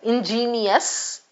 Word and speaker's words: ingenious: First correct the pronunciation between the two, right? Ingenious comes here and ingenuous goes here.